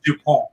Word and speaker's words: Dupont: Is Sydney's last name Dupont or Dupont? How did you pronounce it? It's Dupont. Yeah, the first way.